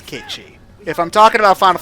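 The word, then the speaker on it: Cait Sith: night by the way we know it's supposed to be pronounced ketchy because that's gaelic yeah but it's phonetically we pronounce it as kate's like that's what we all know listen if i'm talking about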